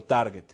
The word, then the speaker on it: Target: que tener claro que Target se pronuncia con g de gato Target mucha gente lo